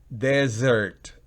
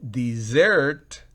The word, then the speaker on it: desert: Desert, desert, desierto o yelmo, ambas son sinónimos. Pero si yo digo desert, oigan bien, desert, desert es desierto, pero dessert, miren que no es de, sino dessert es postre.